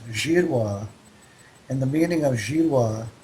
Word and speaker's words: Girouard: know him well um my name Gerard is was originally pronounced jira and the meaning of